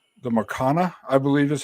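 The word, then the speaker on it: Maracanã: Their stadium, which is called the Maracana, I believe is how it's pronounced. Maracana.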